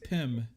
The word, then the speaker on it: Pim: It's not Tim. It's Pim. Pim Pim Hovelfuff. This is a rich man. I can't see shit now. So how am I gonna read this? That's spelled P-I-M or P-Y-M, like Pim Particle? P-I-M, like Tim with a P.